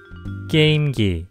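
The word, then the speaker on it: 게임기: ovos consola de jogos a maioria das pessoas pronúncia isso como "께임기".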